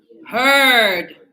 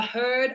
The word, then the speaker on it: heard: Heard. When I have many cows, a herd of cows, a herd of horses, a herd of buffaloes. Yes? You're talking about the group. Oh, a herd of sheep also. Yes? So that's a herd. Same pronunciation.